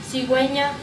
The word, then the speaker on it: cigüeña: Es el signo ortográfico que sitúa sobre la vocal U en las sílabas que y ki. Para indicar dicha vocal debe pronunciarse. Ejemplo, cigüeña, pingüino.